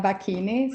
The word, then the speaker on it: Bacchini: I guess it's pronounced Bacchini, eh? Yes, Bacchini, 7 Strathamber Court.